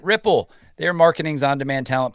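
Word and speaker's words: Wripple: out to our sponsor wri i p e we pronounce it Ripple their marketings on demand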